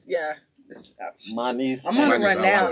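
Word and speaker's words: Manise: That is um but um my niece is my first name. It's spelled M A N I S E. And so M A N I is the Manny.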